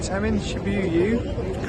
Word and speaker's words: Shibuya: Right, so I'm in Shibuya, correct pronunciation as always.